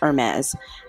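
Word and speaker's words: Hermès: Hermes. It's Hermes.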